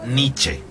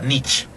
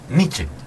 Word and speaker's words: Nietzsche: Por cierto, se pronuncia Nietzsche, no se pronuncia Nietzsche, porque es alemán y se pronuncia la E final, por lo tanto se pronuncia Nietzsche.